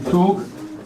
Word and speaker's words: Zug: It's not a zook, it's a soup. A Zug, yeah. A Zug, yes. A Zug. It's a because the letter is not Z, it's set, set. It's pronounced like that. Kind of like a TS.